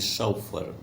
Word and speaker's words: chauffeur: The correct pronunciation of the word is शॉफर।